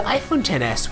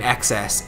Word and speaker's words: iPhone XS: at your disposal we've got you covered the iPhone 10 S is available starting this month and we hope